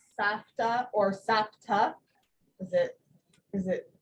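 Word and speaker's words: סבתא: You mean, Like my mom refers to herself as Sapta. She uses the P instead of the F. Just weird. oh, she says Sapta? Uh-huh. Huh. Well, the actual pronunciation is with a fe, Right. Safta.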